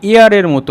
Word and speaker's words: heir: এখানে তোমাদের এটা মনে হতে পারে HEIR হেয়ার, কিন্তু এর উচ্চারণ হেয়ার না হয়ে এয়ারের মতো হবে।